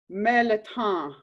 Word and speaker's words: mirliton: Chayote, also called melaton or mirliton. Melaton is how they say it in Cajun cuisine.